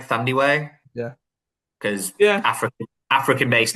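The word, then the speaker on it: Thandiwe: I hope I'm pronouncing it right, Thandi Way, Yeah.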